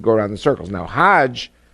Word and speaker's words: hajj: around the circles now hajj is a pilgrim to mecca hag is the egyptian pronunciation hog in hebrew means